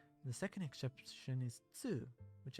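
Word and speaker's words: つ: The second exception is Tsu, which adds an S sound and is pronounced with less emphasis on the T. Tsu. Tsu.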